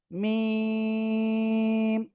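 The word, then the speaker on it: ميم: দুই ঠোঁটের শুকনো জায়গা থেকে আপনাকে এই অক্ষরটা উচ্চারণ করতে হবে এবং এখানে 4 আলিফ টেনে পড়তে হবে, মিম।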